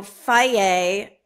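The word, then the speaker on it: Fage: a package of yogurt you know Fayette f-a-g-e also like constantly mispronounced f-a-g that's a yogurt f-a-g-e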